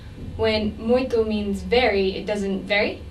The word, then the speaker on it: muito: Okay, the first thing we need to do is change the A of muita to O so that you have muito.